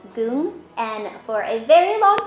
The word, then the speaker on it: Goong: a very long time, I legit thought it was Gong, and I think maybe a week ago, I finally saw the Hangul and realized I was mispronouncing that this entire time.